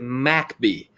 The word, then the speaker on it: McBee: And look, people, it's spelled McBee, but you have to pronounce it MacBee.